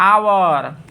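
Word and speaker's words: hour: Honest नहीं, हावर नहीं, हॉनर नहीं, ऑनेस्ट, ठीक है, आवर, ऑनर।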